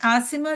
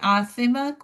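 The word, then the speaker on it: عاصمة: लेकिन आसिमा जो मेरा नाम है वो आइन और स्वाल से है, तो इसलिए हम कहते हैं ना कि जो जब नाम, जो अरबी में वर्ड्स आप लेते हैं तो उनका प्रोनाउंसिएशन सही होना चाहिए, क्योंकि आसिमा अगर आप कहेंगे तो वो गुनहगार है, ठीक है।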